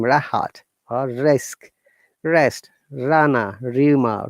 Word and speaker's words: Rahat: If the word starts the letter R, and if there is a vowel sound after letter R, we must pronounce it like my name, Rahat, or risk, rest, rana,